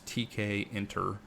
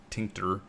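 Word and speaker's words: Tkinter: know how it's pronounced it's TK inter like tinter um and what it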